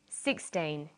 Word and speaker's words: sixteen: say 16 or 60 usually the first syllable in a number is stressed sixteen sixty notice that it's the final n in teen that you have to be careful with teen t but